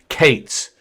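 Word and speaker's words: K8s: abbreviation for kubernetes k-8s you'll hear people sometimes refer to it by pronouncing the acronym they'll say Kate's okay but again our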